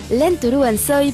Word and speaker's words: Rentrer en Soi: Mauvaise nouvelle pour les fans du groupe Rentrer en Soi ou Lentoru Ansoi pour la prononciation à la japonaise.